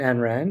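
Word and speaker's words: Ayn Rand: um yeah that's that's the author you mean ann rand yeah yeah that's your wife have you have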